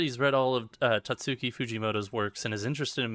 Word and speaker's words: Fujimoto: Fujimoto, not Jujimoto.